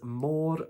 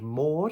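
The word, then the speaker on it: môr: mermaids the word for mermaid in Welsh is Mor vorin more vorin now if we split it up into two different words we've got the word Mo and the word vorin MO is the word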